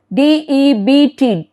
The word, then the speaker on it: debt: So, be careful with these silent letters.